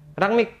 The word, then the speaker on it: Rangnick: Gimana bacanya? Rangnick.